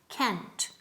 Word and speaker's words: can't: Dilo bien, con T al final, can't.